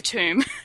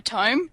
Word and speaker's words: tome: It's a tomb. A tome? Tomb? I don't know how to say it. Tome.